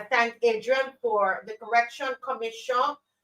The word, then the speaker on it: Comissiong: Comissiong. Comissiong.